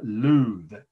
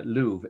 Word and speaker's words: Louvre: is pyramids plural pyramids at the luth i can never pronounce it correctly my french friends always correct me it's the museum of course the world famous museum so pyramids at the louvre l-o-u-v-r-e okay pyramids at